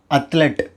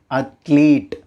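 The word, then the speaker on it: athlete: ஆனால் இதோட உண்மையான ப்ரொனன்சியேஷன் என்ன அப்படின்னா அத்லீட். அத்லீட், நாட் அத்லெட். இட்ஸ் அத்லீட். Next word February.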